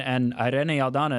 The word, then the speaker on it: Irene Aldana: She's one hell of a fighter, and Irene Aldana as well. Oh, look at that! I love the way you say that. The rolling of the R's.